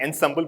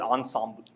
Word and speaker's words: ensemble: so but the word, the way people pronounce ensemble, I was guessing it is French, and I'm moving with it, right? So it's not ensemble, but ensemble. Right? So French has different pronunciations.